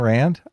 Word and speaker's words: Rand: On the Ayn Rand? I'm not sure I know how to pronounce it, to be honest with you.